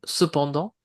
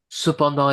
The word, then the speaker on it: cependant: d'idées ou de synonyme cependant. Pourtant alors ici néanmoins, néanmoins, pas facile non plus à à prononcer néanmoins. Néanmoins. Voilà. Cependant et pourtant, vous ne prononcez pas le T final, hein.